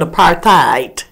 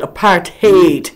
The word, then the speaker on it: apartheid: But that's the way the English is pronouncing it, apartheid. But it's apartheid.